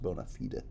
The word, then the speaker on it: bona fide: We have just witnessed some bona fide, magic. Bona fide, really should be pronounced bona fide. Just saying. Latin being a phonetic language, I think you'll find.